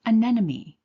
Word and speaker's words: anemone: So now I know it's pronounced anemone. And if you look, they will give you the phonetic spelling. Right here, the and then the nem, that part in bold is where we're putting the emphasis.